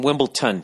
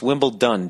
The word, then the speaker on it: Wimbledon: For years I've been saying Wimbledon. Yet another word that I've been mispronouncing. T-O-N, Wimbledon. But it's Wimbledon, D-O-N. Wimbledon. You just say it too